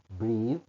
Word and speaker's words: breath: خدت بالك من النطق. Breathe.